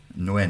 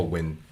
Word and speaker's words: Nguyen: And it is pronounced Nguyen. Nguyen. Oh, win. Or just win. Yeah. It's so soft. It's not Nguyen, but like win.